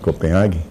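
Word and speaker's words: Copenhague: Europa estivemos na Dinamarca kopenhague não é essa pronúncia correta mas pelo menos é a pronúncia ah Brasileirão mas realmente é um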